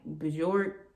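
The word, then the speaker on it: Björk: And if tomorrow want to walk around with a trash bag like Bjork, that's how you say her name, whatever.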